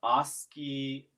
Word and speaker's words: Oski: 2, Oski like oscillator, and tone like a note that you hear. Oski is spelled with a K because I wanted to force like a hard pronunciation.